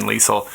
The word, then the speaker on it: Leisel: bit about that then lisel I I know so what what I know so far is that your family pronounces your name with a soft s and that you play